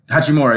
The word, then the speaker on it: Hachimura: I ain't never heard of Hachimura. Right. Did I say it right? Hachimura, yes.